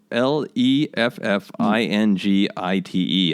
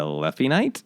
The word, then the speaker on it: Leffingite: It is Leffingite. I said a Leffy Knight.